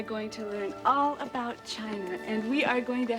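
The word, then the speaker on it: Qin: the Great Wall of China was designed by the emperor Quinn whose aspiration Excuse Me Miss Seymour it is pronounced chin oh thank you Mr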